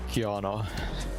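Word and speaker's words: Qiyana: And on the other side, we're seeing a Gwen, and I could never pronounce that champion's name correctly. Kiana.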